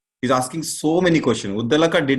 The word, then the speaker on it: Uddalaka: And then Uddalaka. Mahaprana is there. Uddalaka. Not Uddhalaka. Uddalaka or something as mispronounced, wrongly pronounced.